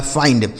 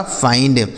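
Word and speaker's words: find: जैसे एफ से हो गया दोस्तों फ। इस आई का उच्चारण क्या हो गया? आई। और एन से आधा और डी से ड हो गया। लिखा है फाइंड। एफ आई एन डी फाइंड। इसे पढ़ा जाएगा फाइंड।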